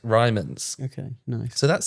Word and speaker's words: Ryman: Ryman. It's not Rylan. That's a camp comic, isn't it? That's correct. Ryman's.